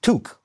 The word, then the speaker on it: toque: They give toque, right? Maybe Urban Dictionary now has updated it. Maybe. But it's always pronounced toque.